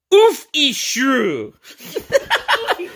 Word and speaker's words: Urshifu: It's pronounced Urshifu. Urshifu. Pause it right there and you can be calm and flow like water with rapid strike. Urshifu. Off with your shoe.